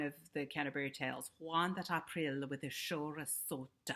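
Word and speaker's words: Aprille: the canterbury tales juan april with the show that is that schwa at the end that the silent e gives us it's become silent now but it wasn't silent back then that's a lot to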